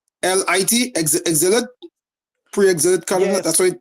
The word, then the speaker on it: exilic: Yeah, like exile. Like it's before exile, before the exile.